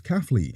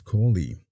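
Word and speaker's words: Caughley: The appraiser, who lived near the factory, said that the factory was pronounced as Caffley.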